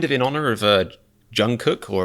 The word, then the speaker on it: Jungkook: in honor of uh jungkook or apparently you're supposed to pronounce his name like jungu but that just sounds like saying the word goo to me i i don't know